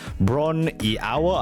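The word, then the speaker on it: Bron-Yr-Aur: Bron y Awer, I think is how you pronounce it.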